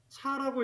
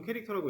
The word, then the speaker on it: char: 이 char, 차라고 읽을 수도 있는데 이거 보통 캐릭터라고 읽습니다.